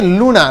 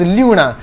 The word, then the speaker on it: Luna: Okay, लूना, लूना का spelling LUNA है। You should not read it एज ल्यूना, ल्यूना, ल्यूना नहीं पढ़ना है।